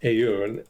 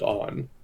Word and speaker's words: Aoun: And his name is not Aoun, it's pronounced On. So my mistake.